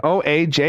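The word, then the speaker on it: Ojai: I think it's I think that's pronounced O A ji yeah yeah oh I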